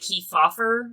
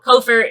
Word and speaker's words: Kefauver: I'm pretty sure it's pronounced like Kefauver or something, but I call them Covert because it's spelled weird. Like, it's really weird. So, Covert it is.